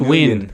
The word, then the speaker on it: Nguyen: It's pronounced Win. It's Win, Ben.